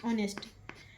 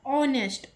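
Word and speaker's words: honest: लेकिन इसका उच्चारण क्या आ रहा है? ओ आ रहा है।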